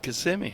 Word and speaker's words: Kissimmee: That's how you say it, Kissimmee.